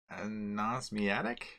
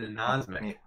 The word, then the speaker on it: anosmic: Anosmiatic? Oh, so close. It's an anosmic. Anosmic. That's pretty good. It's like insomniac. It's hard not to say insomniac. Right. It's an anosmic.